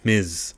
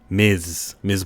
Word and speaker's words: Ms.: Marvel, and if you pronounce her name Miss Marvel, you're saying her name incorrectly. It's Ms. I'll say it slowly for the M-I-Z, Ms.